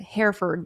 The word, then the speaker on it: Hereford: like they pronounce it Hereford, like that area, Towson, Hereford.